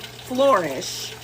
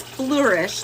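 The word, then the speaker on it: Fleurish: It's not like flourish. It's flourish like a flu dee.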